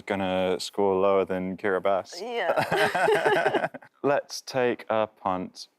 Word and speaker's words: Kiribati: Wow, yeah, it's spelled Kiribati, but it is pronounced Kiribati.